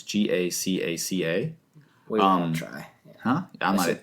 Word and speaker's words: Gacaca: they started a grassroots judicial system called a Gagaka. I don't know how to pronounce that. It's Gacaca.